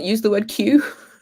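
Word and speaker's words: Kew: but we also have a garden called Q Gardens which is spelled KW which just adds to the confusion but it's also beautiful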